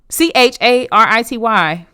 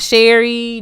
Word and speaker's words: Charity: Get it right. Charity. Nothing else. Not Sherry, not Cherry, not Chastity. It's Charity.